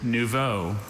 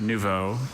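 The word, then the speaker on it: nouveau: The word is neuvo. It's an adjective. It means newly arrived or developed, immature, raw. Uh, neuvo. Can I have all the information? Novo. Uh, I have no other pronunciations. Just nuvo.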